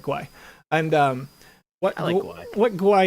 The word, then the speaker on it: gwei: ethereum network right and what this shows is a number called guai right uh at least that's how i pronounce it it made it maybe gwei but i frequently call it guy and um what what